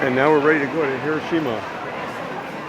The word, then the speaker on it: Hiroshima: name of this city we say Hiroshima very flat You don't How many people?